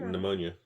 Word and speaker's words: pneumonia: guys just don't like pneumonia yeah where's the PE come from right the feeder salad